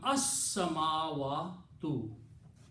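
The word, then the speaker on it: السماوات: When seen and lam come together, seen is a shamsi letter, so you don't pronounce lam, but you pronounce seen 2 times. So it becomes as-samawatu. Okay, so this will be, pronunciation will be as-samawatu.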